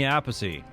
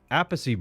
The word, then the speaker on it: Appice: There's Carmine Appice, Appice. Why do people call him that? And then there's Vinny Appice. They're two brothers with the same last name, and they both pronounce their last name differently.